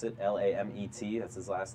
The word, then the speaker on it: Lamet: Maybe not my favorite ever, but Dinelson Lamet.